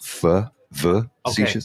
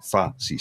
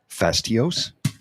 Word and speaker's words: facetious: I thought it was facetious. It's facetious. Yes. And I read it fastios.